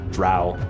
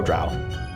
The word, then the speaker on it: drow: are the dro dro drow it says in the beginning of this adventure rhymes with bow or rhymes with bow they're both spelled the same wow so i think